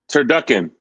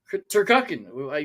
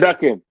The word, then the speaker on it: turducken: Turducken. Turken. You said it right. Turducken.